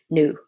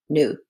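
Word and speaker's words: ν: Frequency is also represented by letter new. Look like a V, uh but it's actually pronounced new, which is come from C equal to lambda new.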